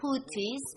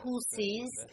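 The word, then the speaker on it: Houthis: they call themselves therefore I call them hoties with a t letter when I explained that some Arabic experts Arabic language experts has rejected my argument however I still believe that I am pronouncing it correctly because I state in Yen and they are using it like that and therefore I prefer calling them as hoies not the hes and this is my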